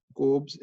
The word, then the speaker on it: Kolbe: अब carboxylic acid का ही B part है कोब्स इलेक्ट्रोलिसिस, KOLBE', एल साइलेंट है इसमें।